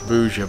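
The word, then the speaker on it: Buža: place called boozer bar it's pronounced bouja bar over here it means hole in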